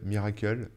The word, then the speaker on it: Mirakl: Miracle, ça s'écrit Mirakl. Je pense que je le prononce bien, hein.